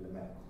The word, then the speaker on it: Lemaître: aquí, vamos a ver, pero la pronunciación correcta me han dicho que es Lemaître.